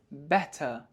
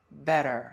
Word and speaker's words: better: So in British English this word is pronounced as better but in American English it is better. So the T is somehow pronounced as D and the R is pronounced so better.